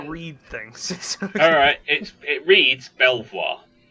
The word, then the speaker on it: Belvoir: things alright it reads Belvoir Belvoir okay okay it's pronounced Beaver right why well it's